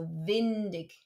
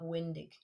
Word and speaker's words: windig: It's important to remember the W in German, auf Deutsch, is pronounced like a V. So windig and not windig.